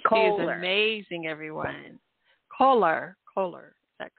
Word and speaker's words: Koehler: and then um may I ask how you pronounced your last name it's Coler teer and my business is Fitness fitzness yes